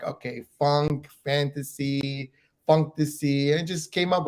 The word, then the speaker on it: Funktasy: I know it's fantasy. It's Funktasy. Am I saying it right?